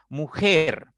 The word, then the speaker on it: mujer: Tiene dos sílabas. Ger, sílaba 1, mu, sílaba 2. Entonces, la mayor fuerza está en mujer, en la primera sílaba, contando de derecha a izquierda, por lo tanto es una palabra aguda.